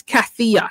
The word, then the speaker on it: Kathya: to pronounce my name oh it's cathia k a t h y a last name is